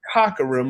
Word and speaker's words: Cockerham: it Cockerham with a silent H.